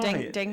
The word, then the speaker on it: dengue: Dengue.